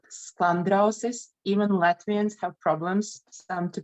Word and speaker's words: Sklandrausis: So this is called Sklandrausis. Even Latvians have problems to pronounce it.